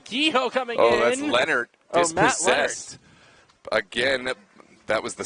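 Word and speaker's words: Lenert: I was like, no, it's actually Matt Leonard. It's spelled L-E-N-E-R-T.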